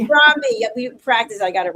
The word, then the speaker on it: Harambee: as a managing editor for Harambee Press. I said it wrong. It's Harambee. Harambee.